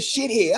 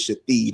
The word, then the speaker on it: Shathid: I was like, "Why would somebody name their kid shithead?" I said, "This shit can't be real." They said, "No, his name is Shathid."